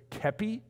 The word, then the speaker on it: kepi: white glove red hat which i found out i was pronouncing wrong it's what i say capus kept i don't know how i said it but it's kepi see now some fun